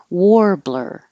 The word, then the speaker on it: warbler: ceremony and inauguration ceremony warbler this looks like AR sounds like or it's a type of bird Warbler and then we practice